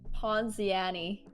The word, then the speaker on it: Ponziani: I'll be a Pon I think it's pronounced ponziani oh that makes more sense yeah okay ponzini SS